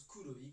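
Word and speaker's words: Kroi: groupe s'appelle kudoi alors ça s'écrit k r o i mais ça se prononce kouoi comme noir en japonais groupe de funk mais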